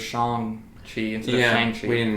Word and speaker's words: Shang-Chi: mean first of all i've been mispronouncing it i didn't realize it was shang tree yeah um that's the